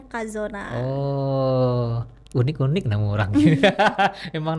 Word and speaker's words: Cazona: Tulisannya Cazona tapi bacanya Kazona.